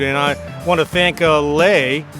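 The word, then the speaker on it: Lei: I want to thank lay her name is spelled l-e-i uh it's pronounced lay the woman who helped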